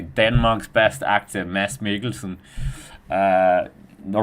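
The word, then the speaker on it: Mads Mikkelsen: I mean, if you're going to say the name, you have to say it correctly. Denmark's best actor, Mass. Miglesen.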